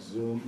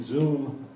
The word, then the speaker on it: Zume: uh I'd like to thank zoom zoom is the proper pronunciation A robotically made pizza